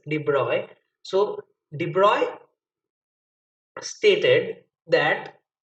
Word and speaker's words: de Broglie: as de bruyne because his name is pronounced as de broy so de bruyne stated